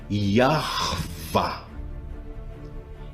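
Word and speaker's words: Yahweh: E juntando as duas sílabas, nós temos corretamente, pela regra antiga, a pronúncia do tetagrama, que é Yarvá.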